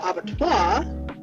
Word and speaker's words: abattoir: The abattoir so this is how they pronounce it.